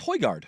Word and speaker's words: Højgaard: You want to try to pronounce old Rasmussen's name here? That's Højgaard.